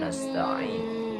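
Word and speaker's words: نَسْتَعِينُ: Iya, jangan iya karena, tapi iyyaka na'budu wa iyyaka nasta'in. Yang pertama, yang kedua pengucapan ain, na. Iyyaka na'budu, iyyaka na'budu. Yang ketiganya nasta'in, ainnya sama nasta'in. Sa-nya itu sa biasa, nasta'in.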